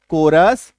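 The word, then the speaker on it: chorus: एकको ओ आर सी एच आई D orchid orchid क टी एच ओ कोरस एम ई सी एच A mechanic orchestra है ना ये सारे क्या हैं?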